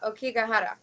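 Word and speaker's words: Aokigahara: But Lily, your pronunciation is much better than mine. It's the Okigahara.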